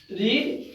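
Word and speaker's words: read: पढ़ना का होता है रीड। स्पेलिंग इसका सेकंड और थर्ड फॉर्म का भी यही रहता है, बस इसका प्रोनाउंसिएशन अलग किया जाता है। रीड रेड रेड पढ़ा जाता है इसको।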